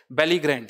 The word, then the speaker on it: belligerent: बेलीग्रेंट, क्या है next word, बेलीग्रेंट।